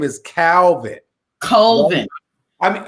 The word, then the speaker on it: Colvin: I thought Calvin. Calvin, that's okay. So his name is Colvin. And so tell us a little bit about the book and about Colvin.